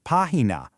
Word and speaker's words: página: And any word that places stress on the third-to-last syllable, the antepenultimate, like página, always requires a tilde because it completely falls outside that natural two-syllable stress window.